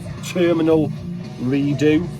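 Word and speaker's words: Terminal Redux: fantastic fantastic band vector terminal redo that's how you say it um thank you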